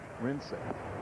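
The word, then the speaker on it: Wrincik: No, it was actually W-R-I-N-C-I-K. Can't read that but far. Pronounced Rinsick.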